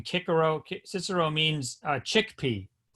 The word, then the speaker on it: Cicero: course Cicero Marcus Talia Cicero pronounced in Latin kikaru Cicero means uh chickpea